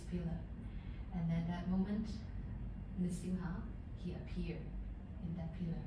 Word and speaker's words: Nrsimha: Nrsimha means half lion, half man form. Nrsimha. So please try to pronounce this word. It's a little challenging. Nrsimha. Nrsimha. Nrsimha. Nrsimha. Because another name is Narasimha.